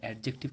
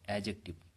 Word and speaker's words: adjective: অ্যাজেক্টিভ এটা অ্যাডজেক্টিভ কিন্তু নয়, অ্যাজেক্টিভ। ঠিক আছে, এখানে ডি এর উচ্চারণ সাইলেন্স থাকে।